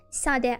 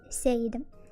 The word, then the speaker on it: Sade: That's actually why it's pronounced Sade and not Said.